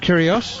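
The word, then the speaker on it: Kyrgios: can tell you as well that um nick curios is that pronounced right that's correct he's um wearing his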